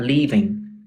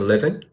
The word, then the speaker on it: living: So you said make a living, not leaving. Make a living.